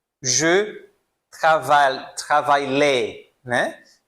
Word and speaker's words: travail: Por que que eu pulo esse LL, né? É justamente isso, tá? Quando eu tenho esse I L, geralmente vai ser I L L L E, vai ser essa combinação aqui, eu vou pronunciar I, I, como la família, la família, tá?